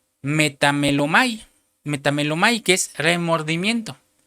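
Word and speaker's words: μεταμέλομαι: griega 33-38 de la concordancia Strong, que se pronuncia metamelomai, que es remordimiento.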